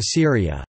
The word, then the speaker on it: Sūriya: The classical Arabic pronunciation of Syria is Syria, as opposed to the modern standard Arabic pronunciation Syria.